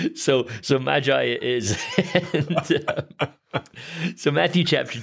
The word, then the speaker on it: Magi: him telling us once it's a hard G Latin doesn't have a soft G and the entire class promptly ignored him and said we're not going around talking about the Maggi so so Magi is so Matthew Chapter